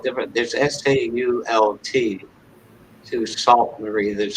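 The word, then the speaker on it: Sault: love the way dorinda's where she lives is pronounced it's what saint is yeah that's actually spelled different there's s-a-u-l-t to salt marie there's sue s-i-o-u-x you know from the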